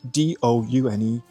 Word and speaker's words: Doune: Now, even though it is spelled D-O-U-N-E, it is actually pronounced Doune.